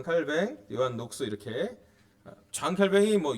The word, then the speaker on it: 장 칼뱅: 칼뱅, 요한 녹스 이렇게 장 칼뱅이 요한 칼빈이고 칼뱅이라고 이제 왜냐하면 이분이 그 프랑스의 발음을 하기 때문에 그렇게 볼 수가 있는데요.